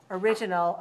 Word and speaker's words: origin: Original, originally, originate. But the noun is stressed on the first syllable, so that's the hardest to remember.